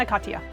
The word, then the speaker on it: Ana Katya: too much i wanted to nail how to pronounce her name and i just really forced it over correctly and a katya there we go anaconda who is an advocate